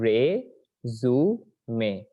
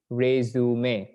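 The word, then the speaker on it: résumé: এটার উচ্চারণ কি রিজিউম না? এটার উচ্চারণ রিজিউম না, এটার উচ্চারণ রেজুমে। উচ্চারণ কি? রেজুমে।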